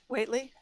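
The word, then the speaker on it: Whately: How do you correctly pronounce that town name? Waitley? Yes.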